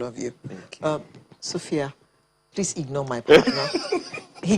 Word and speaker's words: Sophy-Yah: name by the way sophia it's the same um pronunciation but just different spelling um let me tell